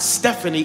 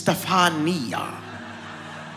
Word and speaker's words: Stefania: It's not Stephanie, it's Stefania.